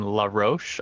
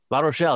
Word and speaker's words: La Rochelle: And I'm going to pronounce this incorrectly because I'm not French, but the manufacturer we're looking at has their factories in La Roche, I believe. La Rochelle. There we go.